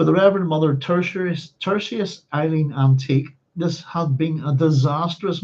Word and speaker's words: Anteac: For the Reverend Mother Tertius Eileen now the first problem here in pronunciation. Phonetically, I'm going to go with Anteac. I'll explain why in a wee moment. For the Reverend Mother Tertius Eileen Anteac, this had been a disastrous morning.